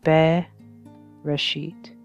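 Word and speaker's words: בראשית: 1, and it begins Be Reshit. So there is the first word of the Bible in the original Hebrew characters, and here is the transliteration, which is how you would pronounce it, Bereshit, and this translates to in the beginning.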